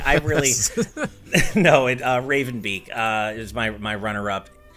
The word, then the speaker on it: Raven Beak: name it's fine okay it rhymes with haven leak how about that um i i really no it uh raven beak uh is my my